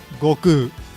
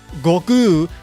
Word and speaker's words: Goku: Yes, you could argue that it's closer to the original Japanese, and that's fine. If you want to pronounce it that way, go right ahead. It's really not a big deal. But strictly speaking, if it's not Goku, then it's wrong. It's a misprononunciation.